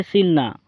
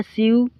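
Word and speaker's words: sew: सो का मतलब होता है सिलना, सो, सोड, सोन। दोस्तों ये जो सो है आपको ये देखने में लगेगा सीव, सीव्ड, सीवन, लेकिन इसका प्रोनाउंसिएशन होता है सो, सोड, सोन।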